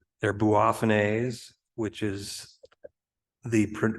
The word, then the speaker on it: Boophone: way to do it you could say they're bua which is the correct pronunciation according toh Richard D who's now passed but he wrote a book on Cape bulbs he can just say buffan which sometimes you'll see it spelled that way